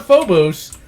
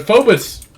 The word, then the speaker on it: Phobos: on the Martian moon of not Phobos but focus they print helps it focus I don't know why they pronounce it like like that but it's hilarious the